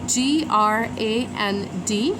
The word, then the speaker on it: grand: we will just use g r a n d. We are not going to pronounce the ending, which is the d, and we will just say grand.